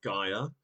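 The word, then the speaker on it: Gaea: That is Gia. Uh G A E A. That's spelled G. Gia. I mean I would say Gia.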